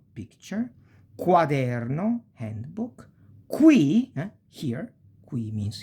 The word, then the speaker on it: quaderno: qua, qui, que, quadro, quaderno, qui, quercia, eloquenza e quello, that. E si pronuncia più o meno, we pronounce it more or less like quiver, quiver.